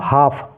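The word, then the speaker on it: half: पढ़ेंगे वॉक ठीक है एच ए एल एफ इसको क्या पढ़ेंगे हम हाफ हाल्फ नहीं पढ़ना है हाफ पढ़ना है ऐसे ही डब्लू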